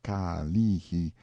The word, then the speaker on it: Kalihi: a picture as the Kalihi Valley, pronounced Ka-lee-hi, stress on the second syllable.